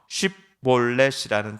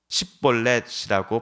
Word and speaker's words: 쉽볼렛: 그래서 쉽볼렛이라는 단어를 발음해보라 할 때 십볼렛이라고 발음한 사람이 있다고 한다면 그가 바로 에브라임 지파 사람이니 그를 잡아 죽여라 라고 입다는 부하들에게 지시했던 것이지요.